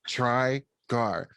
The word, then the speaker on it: Trygar: it's like it's literally it literally is pronounced how it looks yeah try gar which i don't know